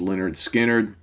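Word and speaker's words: Lynyrd Skynyrd: So my pick today, if you recognize the riff at the beginning of the song, is Simple Man from pronounced Leonard Skinner, debut album, 1973.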